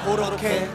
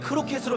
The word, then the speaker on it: 크로켓: 여기 있는 허경환의 유행어 고로케. 벌써 보고 싶은데. 고로케는 일본어식 발음으로 정확하게는 크로켓으로 표기합니다.